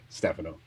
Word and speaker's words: Stefano: I like pronouncing it Stefano, but I know the correct pronunciation is Stefano.